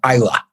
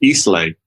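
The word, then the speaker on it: Islay: from the island of isla ah which many people pronounce eastlake but it's of course pronounced isla how many of each single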